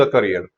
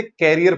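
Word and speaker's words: career: न्यूक और ruin the करियर। एक जरूर ध्यान रखना, इट्स करियर। बहुत लोग इसे कैरियर पढ़ते हैं, इट्स नॉट कैरियर, इट्स करियर। तो याद रखना, प्रोनाउंसिएशन आपको याद रखनी है, करियर बोलना है इसे।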